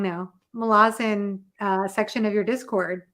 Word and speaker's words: Malazan: I camped out in your Malazan, I keep saying it wrong now. Malazan section of your Discord, like the whole time I was reading the series last year.